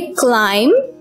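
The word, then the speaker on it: climb: क्लाइम, यहां पर भी बी साइलेंट है, हम लोग ब को नहीं पढ़ेंगे, हम इसे पढ़ेंगे क्लाइम, जिसका मतलब है ऊपर चढ़ना।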